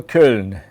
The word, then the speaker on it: Köln: Köln or a Köln?